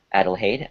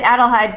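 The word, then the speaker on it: Adelheid: just get to that adelhade i hope i'm saying that question yeah i mean how do you say that anyway sir uh it's adelhide but you can she goes by hiding heidi got it okay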